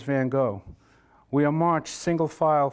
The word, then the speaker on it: van Gogh: was born in Antwerp she says to say it like this Vincent van Gogh and she coughs as she says it van Gogh van Gogh but Miss cook says van Gogh we are March single